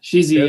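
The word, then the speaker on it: Chézy: I think just used the Chesy. Is that how you say it? Yeah, Chesy, yeah.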